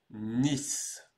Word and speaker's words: Nice: en anglais alors oui ça s'écrit comme Nice en anglais sympathique mais cette ville là se prononce différemment on va dire Nice Nice d'ailleurs tu as